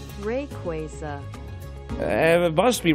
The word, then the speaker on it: Rayquaza: there this is this is fascinating rayquaza rayquaza rayquaza quay hey man is google saying rayquaza and it must be right okay let's let's